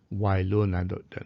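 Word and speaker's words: Wieluń: uh the western polish town of wailun that's the correct pronunciation which was bombed and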